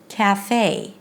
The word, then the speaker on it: café: this pure e sound it has to close into this nice diff thong a as in day CA Cafe now to be able